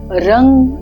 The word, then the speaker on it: रं: तत्व है तो हमें वहां पर अग्नि तत्व रंग आर एन जीी रंग शब्द का उच्चारण करना है इसके ऊपर छाती के मध्य